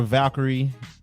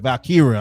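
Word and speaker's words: Valkyria: Corey J defeated Laura Valkyrie did I say her name right uh Val Kira I'm sorry yeah I don't know why I said Valkyrie in a one-on-one match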